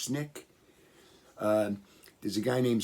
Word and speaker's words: SNCC: nonviolent coordinating committee sncc it's called snick generally pronounced snick uh there's a guy